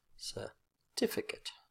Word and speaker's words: certificate: on the first syllable certificate certificate so second syllable is the strong syllable notice I haven't forgot